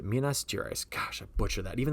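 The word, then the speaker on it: Minas Gerais: jerus Mina Minas jerice that's how you say Minas jerice gosh I butcher that even though I got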